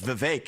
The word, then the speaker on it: Vivek: I say my name's Vivek, it rhymes with cake.